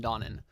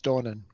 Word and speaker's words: Donnan: least Ulrich Erastus and Donnan Donnan die you pronounce that yeah we'll go with that okay it says not Donna it's dawning Donen your characters have been